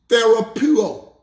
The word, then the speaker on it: therapeuo: The Greek word for healed is the word, watch this, therapeuo. Therapeuo is the word we get our English word therapy from. Therapeuo is spelled T-H-E-R-A-P-E-U-O.